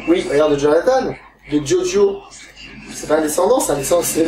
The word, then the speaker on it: Giorgio: Giorgio, oui. C'est en italien.